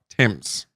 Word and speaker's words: Thames: And it was also alongside a passageway which led to the Parliament stairs as well as the River Thames. Which, as we all know, is pronounced Thames.